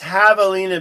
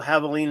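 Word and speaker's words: javelina: So, it's pronounced Havalina because the J is a hot in espanol. And so, Havalina is pronounced without the J. It's a half h.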